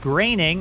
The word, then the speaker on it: Groening: You guys pointed out in the last episode it's pronounced Groening.